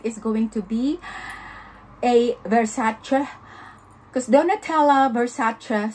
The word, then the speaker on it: Versace: she doesn't like is when english people or other people say versace it is not the way you pronounce the word versace but versace like that so i hope do